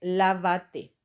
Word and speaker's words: lávate: Tú, del verbo reflexivo, lavarse, es lávate. Como le agregamos el pronombre reflexivo al final, va a llevar acento siempre en la sílaba, la tercera sílaba. 1, 2, 3.